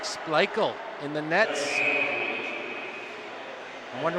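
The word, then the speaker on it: Splichal: clear that puck away SP that's spelled SP p l i c h a l sounds like spele in the Nets I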